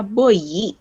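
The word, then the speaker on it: бой: Kalau BOI, nih ketemu sama I biasa, dibacanya boyi. Karena ada I-nya, boyi. Sementara itu kalau ketemu sama Y, jadi boy. Boy. Dibacanya.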